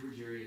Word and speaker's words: Ruggieri: It's a great honor to recognize Mr. Matthew Ruggieri. Is that what you pronounce it? Yes, sir. Okay. A 2024 graduate alumni of Robinson High School and McLennan County freshman. And whereas Mr. Matthew Ruggieri attends MCC, where he